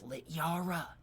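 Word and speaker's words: Littjara: It's Lit Yara. The J makes a Y sound.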